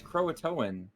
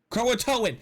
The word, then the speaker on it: Croatoan: o and I'm saying Croatia how do you pronounce that Hunter crowing that's Croatoan Croatoan what what that that's the actual proud like